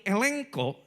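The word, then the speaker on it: ἐλέγχω: Slide berikutnya, kata telanjangi dalam bahasa Yunani elenko, ege itu dibacanya eng ya kalau di Yunani, elenko artinya adalah diakui.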